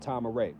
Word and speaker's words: Tama-Re: And in the late 90s, he founded a land called Tama-Re in Georgia. You can look it up. It's Tamare. Spelled like this.